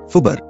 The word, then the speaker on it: fubar: As fubar and scuba are usually pronounced as a word, making them acronyms, it would make sense to say a fubar and a scuba diver.